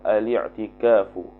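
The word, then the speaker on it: الاعتكاف: yang ke-24 itu khabar aliktikafu ialah ikkaf jadi bacanya aliktikaf kerana dia tidak ada hamzatul qatfaifukafan f'il khumasi suuli Maid khumasiakafaakifu ikkafan Jadi kalau baca kalau start dengan a tu jadi kena baca aliktikaf bukan aliktikaf aliktikaf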